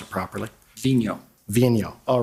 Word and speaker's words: Vigneault: We've all been debating about how to pronounce it properly. Vigneault.